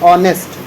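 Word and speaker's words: honest: इसको हम पढ़ने हैं ऑनेस्ट ठीक है क्या पढ़ने हैं ऑनेस्ट यहां पे हा जो है साइलेंट की तरह उसे किया जाता है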